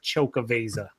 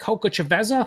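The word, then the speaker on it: Xocoveza: how he can pronounce Chocaveza. Correct. Chocaveza. I like when people are like, "Is that Coca Chaveza?" I'm like, probably not, but whatever.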